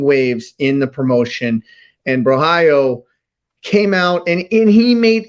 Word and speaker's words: Borralho: I said a new contender could be born in the main event if okay, help me pronounce his name again. Borralho. Yeah, there you go. Well done, Caio Borralho.